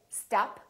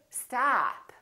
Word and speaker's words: stop: this ah ah and this vowel is usually longer than most people who are non-native speakers tend to make it so don't say stop say stop stop that's impossible particularly if